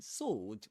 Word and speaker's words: sword: In sword, we don't pronounce the w the w sound. We say sword.